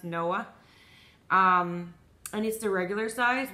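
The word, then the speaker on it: Noé: Tom no way or I think it's pronounced Noah I needs to regular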